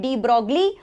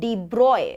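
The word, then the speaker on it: de Broglie: things a little bit so we call it de brogly but it's actually not pronounced as de brogly it's deep broy okay it is the broy corrector okay concept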